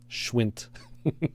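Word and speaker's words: Schwindt: Schwint. Schwint. Schwint. Yeah. You have to say it like that.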